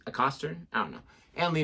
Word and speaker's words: Acaster: too how they say it's not James a cter it's James a Coster I don't know and